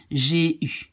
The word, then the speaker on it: j'ai eu: You say this av in the beginning becomes just an E and you pronounce it j'ai eu.